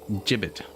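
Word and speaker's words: gibbet: The word gibbit is pronounced jibbit. Okay. Rhyming with ribbit or limit.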